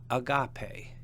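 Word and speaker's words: ἀγάπη: and agape accent on the penult or second to last syllable.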